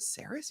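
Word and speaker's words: Sarris: I'm like, is it Saris? He goes, yeah, you've been mispronouncing my name the entire time.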